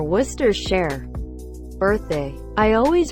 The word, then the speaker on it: Worcestershire: call it Lian parents say muster replace the M with aw say share Worcester share birthday I always pronounce